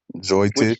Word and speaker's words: Jyotish: It's Jyotish yoga, Joy Tish.